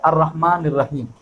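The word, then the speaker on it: الرحمن الرحيم: लेकिन कुरान की जो दूसरी आयत है अर्रहमानिर्रहीम, तो उसमें हम अर्रहमान लफ्ज़ में हम लाम को प्रोनाउंस नहीं कर रहे।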